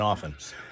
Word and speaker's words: often: I always pronounce the R in February, and I never pronounce the T in often.